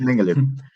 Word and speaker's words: Mengele: pues el Mengele, bueno, así se Ah, escribe, no sé si lo estoy pronunciando Sí, bien. es Mengele.